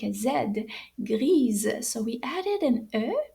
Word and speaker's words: gris: we say gray is gri now notice that the s is silent we do not pronounce the s at the end so let's try that